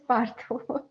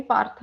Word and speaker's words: Partha: I can see that in your bio you have written Partha, but pronunciation is Partho.